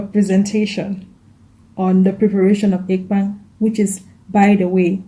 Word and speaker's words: ekpang: And other people call it ekwang, but that's not the right pronunciation. The right pronunciation, as a Balondo man will call it, is ekpang.